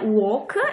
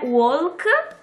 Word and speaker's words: walk: sempre errata quindi una work e l'altra at work quindi parlare e camminare non è walk ma work la l è muta e non è talk bensì top quindi work e top